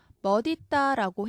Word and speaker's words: 멋있다: 그 다음에 멋있다도 마찬가지죠. 멋있다라고 해야 원칙적으로 맞지만 현실적으로 사람들이 많은 비중의 사람이 멋있다라고 말해요. 그래서 이것도 인정을 했어요.